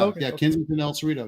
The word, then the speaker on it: El Cerrito: year anniversary as the chief of uh Kensington El Cerrito that's awesome did I say it right when I entered it's Rio is that what it is you did yeah yeah El Cerrito yes congratulations on the chief by the way